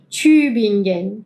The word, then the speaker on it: Tübingen: de la T y de paso menciono la G, que es gu gu, no es Tü Tü bingen, como en español, no es como la en inglés, no es gen, no es Tü bin gen, es ge.